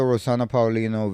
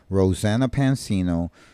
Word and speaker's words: Rosanna Pansino: gonna get into the rosan Paulino video I hope I'm saying her name right rosan P Pansino Rosanna Pansino I was saying her name wrong the whole time but I'm Spanish so